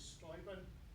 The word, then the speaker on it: Steuben: Friedrich, proper pronunciation is Steuben, and he wasn't a von, by the way.